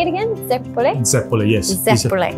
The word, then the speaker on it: zeppole: Zeppole?